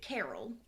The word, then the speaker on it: Karel: She was born to Dorothy and Carol. Her dad's name is spelled Karel, but I'm pretty sure it's pronounced Carol. Okay, because I was like, wait a minute.